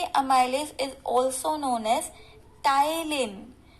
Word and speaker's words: ptyalin: So this salivary amylase is also known as ptyalin. P is silent here, it is called ptyalin. Y is also silent, ptyalin, ठीक है.